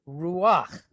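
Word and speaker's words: רוּחַ: hit it's a Patak we're gonna flip them so that instead of being huh is now pronounced okay that's what the Fert of Patak does and it's just that one particular Mark okay so if you see it with a kamats under there you're still going to pronounce it the normal way consonant and then valves okay so that word would be pronounced ruach that's why I was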